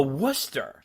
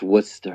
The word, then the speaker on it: Worcester: and when you read my email the a worcester pronounced worcester what's with this i know it doesn't spell